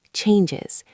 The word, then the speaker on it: changes: When you say that sentence, focus on the word changes. It has a z sound at the end.